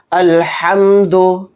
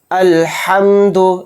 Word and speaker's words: الحمد: تو آئیے سمجھتے ہیں۔ الحمد، الحمد، اس طرح سے بڑا ہا یہاں پر نکالنا ہے۔ للہ، للہ میں جو